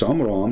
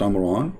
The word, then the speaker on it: Amram: But Imran, even Muhammad, he called the name wrong. It's Amram, not Amran, but idiot, as what you say, is the father of Moses.